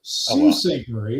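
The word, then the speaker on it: Sault Ste. Marie: S St. Marie. It's French pronunciation.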